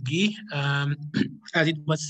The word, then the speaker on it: Guy: So my name is Guy, it's pronounced Guy, but I'm Francophone, so I pronounce it Guy.